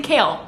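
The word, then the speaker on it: Chaol: If you don't pronounce his name Kale, we can't talk.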